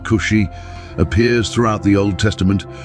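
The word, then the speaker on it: כושי: The word Tunaz, pronounced Cushi, appears throughout the Old Testament, referring to people from the land of Cush, which encompasses modern-day Ethiopia and Sudan.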